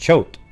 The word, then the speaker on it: Choate: it's oh really just choked that's it just choked c-h-o-w-t is what they have okay right there look choke yeah like boat that's what i just